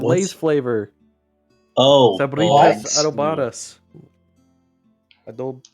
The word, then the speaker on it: adobadas: adobadas. Adob Spell it. ADOBADAS. I don't know what that is. Looks like a pepper. It sounds like adobas. No, but it has an extra DA. Adobadas.